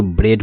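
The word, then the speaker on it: bread: जैसे देख लीजिए ये वर्ड को जैसे बी आर इ ए डी इसको ब्रेड पढ़ते हैं। ब्रेड का मतलब रोटी। देखिए यहां ए आया है और ए के पहले इ आया है तो इसलिए ए साइलेंट हो गया। इसको पढ़ेंगे ब्रेड। देखो बी आर ई इसको ब्रे बोलेंगे और डी लगा देंगे। हो गया ब्रेड।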